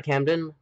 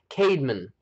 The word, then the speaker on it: Cademan: Actually, that isn't how you say his name. Cademan. That's it.